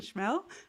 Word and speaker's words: Schmehl: special guest for today's stream uh Dr Roland schmel I didn't actually check with you about pronunciation of your last name so I forgot